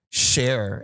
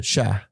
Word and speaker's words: cher: And the cartoon, they'd have him say like share instead of sha. Like, it's okay, sha. It was so butchered. So is that what they say in as a Cajun accent? It's sha.